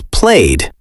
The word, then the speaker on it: played: In the past tense, it is played. This one has a D sound at the end.